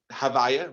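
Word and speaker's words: הוי״ה: It's known in Hebrew as Havaya, which is the way we pronounce that name without it being fully pronounced, Havaya.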